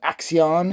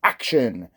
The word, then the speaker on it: Axxion: I know it's spelled Axxion, that's how I always say it, but it's actually supposed to be pronounced Action.